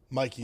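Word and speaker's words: Michie: Is that how you say it? Mikey. I always said Mitchie. Mikey.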